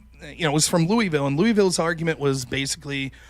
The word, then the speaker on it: Louisville: I don't want to defend the university on this, but you pronounce it Louisville, Rob.